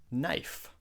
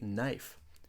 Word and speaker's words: knife: example the word knife knife we don't say k knife we just say knife the K is silent knife Christmas christ Miss